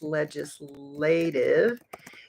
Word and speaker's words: legislative: saying the word legislative remember that the G I'll write it here in the comments legislative is a soft G so we're not saying leg leg like our leg no leg J like Joe or John or jump legislative um she focused on